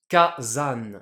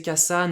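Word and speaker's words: 火山: Le premier cana du second kanji, le sa va prendre un accent ici le dakuten ce qui nous donne kazan ce qui est beaucoup plus facile à prononcer pour les japonais.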